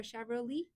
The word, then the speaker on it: Chevrolet: Shabro Lee. Shabro Lee or Chevrolet. Is it Lee or Lee or Lei? Leah. Shavelet or Chevrolet.